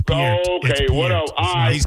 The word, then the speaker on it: Peart: His name Neil Peart. It's not Y'all Peart. said it 2 times wrong. It's actually Peart. It's Peart.